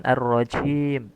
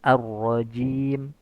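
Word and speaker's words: الرجيم: Beberapa perkara yang harus diperhatikan ketika membaca kata arrajim yaitu sempurnakan sifat syiddah pada huruf jim. Jangan arrajim arrajim. Nah, tapi harus arrajim.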